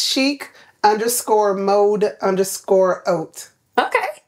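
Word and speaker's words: haute: but most people say heart hope it's French in the French don't pronounce the h if it's in front of a vowel so a silent it's just oat and you speak French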